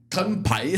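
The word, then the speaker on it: 乾杯: Kanpai.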